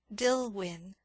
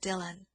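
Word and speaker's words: Dillwyn: It is spelled D I L L W Y N. Dillwin, but it is called Dylan.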